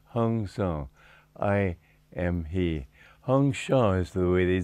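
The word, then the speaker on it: Hong-Sau: beginning is beats hyung so I am he hyung Shaw's the way they said in Bengal and so that's the way I prefer to pronounce that sau hyung Shaw and with that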